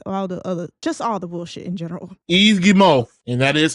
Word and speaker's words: Yves Guillemot: Yves Guillemot, and that is how you pronounce the name of the CEO of Ubisoft.